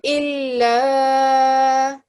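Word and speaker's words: إلا: So how long would we prolong that for? 2 seconds. 2 seconds, perfect. So illa, Illa.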